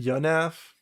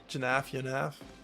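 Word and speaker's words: Janaff: I think it's so funny that is it Yiannaf? Right. That's what people say. Jaf Yaf.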